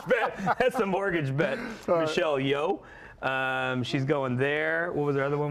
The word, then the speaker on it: Michelle Yeoh: I think the lock is Michelle Yeoh.